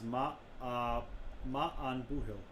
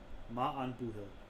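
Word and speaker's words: Maith an buachaill: Pronunciation is Ma'an Buhil.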